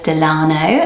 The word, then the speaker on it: Delano: So I would say Delano, but it also comes up as Delano, and it's French, and it means a really cool meaning.